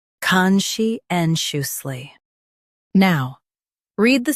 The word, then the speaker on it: conscientiously: conscientiously First, let's hear its American pronunciation. conscientiously Now, read the syllables of US pronunciation shown on the screen naturally. con shi en shus ly conscientiously con shi en shus